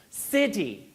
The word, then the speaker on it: city: That is actually how you would articulate that stop sound. So actually, we struggle because when we break it up into syllables, we distort the pronunciation. You have to point out that that hard D, City, that really is how it sounds, right?